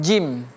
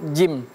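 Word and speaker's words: جيم: Sebenarnya gampang seperti dalam kita bahasa Indonesia kita menyebutkan huruf J. Nah kalau kita mengucapkan huruf J, nah itulah dia seperti huruf jim.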